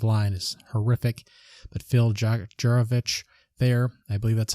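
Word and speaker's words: Jurkovec: But Phil Juravich there, I believe that's how you pronounce the quarterback's name for Boston College, was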